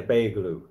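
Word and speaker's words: Beyoğlu: So yeah, Beylu. But I don't think you pronounce the G. Quattro Girl said yeah, Beylu.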